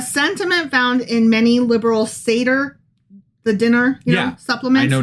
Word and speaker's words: Seder: SEDER. SEDER. Okay. Yeah. All right. Not with a C, not wood. Okay, I'm getting information that it might be Seder is how it's pronounced.